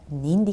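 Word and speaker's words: нинди: В вопросительных единицах и вопросительных местоимениях ударение должно падать на первый слог. При элизии (отпадение звука) между двумя словами ударение может меняться, приспособляться к речи. Но для того, чтобы речь была ясна, нужно стремиться ставить ударение к каждой речевой единице. Например, Ни'нди кешеләр белән очрашу? Ка'йчан барырга кирәк? Таким образом, в указательных, неопределенных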